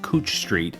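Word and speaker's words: Couch Street: When I get to my Portland video, I'll make sure to point out that it's pronounced Cooch Street and how to say Willamette and Oregon.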